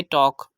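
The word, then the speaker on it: talk: ल ए गया तो यहां पर हमने इसकी प्रनंसीएशन करनी है टॉक ल को साइलेंट करना है थर्ड एग्जांपल है वॉक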